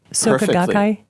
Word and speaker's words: Soka Gakkai: And your book is The Star-Spangled Buddhist, Zen, Tibetan, and Soka Gakkai Buddhism and the Quest for Enlightenment in America. Did I pronounce that right? Soka Gakkai?